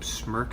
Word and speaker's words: Smreka: the berries start to sink should have some smirk I tell you that's how you pronounce it Weejun beer have all dried they've